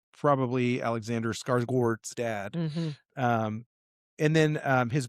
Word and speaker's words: Skarsgård: Alexander Skarsgård. Yeah, I'm pretty sure Skarsgård. No. Yes, look at it. Skarsgård. You're supposed to pronounce that Gord.